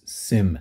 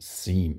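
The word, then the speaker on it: SIEM: these systems are commonly referred to as Sim systems or as they should probably probably be pronounced seam seam systems security information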